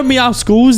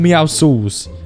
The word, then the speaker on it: Meowscles: You know Meow Skulls? He's actually called Meow Sauls. And it's because he's got muscles and he's Meow. He's not called Meow Skulls. Commonly mispronounced.